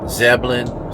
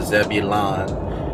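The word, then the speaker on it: Zebulon: think it's the middlesex then zebelin some will pronounce the zebilon it don't matter either one and then the windale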